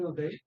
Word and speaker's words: Udai: Just like South, basically South So last one of Uday, you can call me Uday. It is UDAI. So little difficult to pronunciate that.